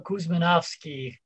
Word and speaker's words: Kuzmanovski: we can hear it so the true name is nicola Koosman offski macedonian but american version is dr. Nick who's that's dope dr.